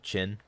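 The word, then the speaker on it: Qin: heard of the game Prince of chin that's spelled q i in by the way it's Chinese it is it's a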